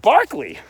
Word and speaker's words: Berkeley: actually Bishop Berkeley right he spells his name Berkeley but he pronounces it Berkeley what is that I